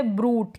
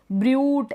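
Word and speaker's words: brute: फिर है ब्रूट। क्या है? ब्रूट। डूड। ब्रड ऐसे नहीं पढ़ेंगे। य इस यू का साउंड नहीं निकालेंगे हम।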